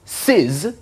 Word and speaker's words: cis: from sign and it's abbreviated as R C is often pronounced C's are CIS of theta that's this way of